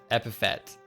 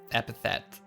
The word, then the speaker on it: epithet: with their predecessors epis you thought it was epitaph ep epitaph is a different word you're not sure how to spell it in sound epithet epithet i i know the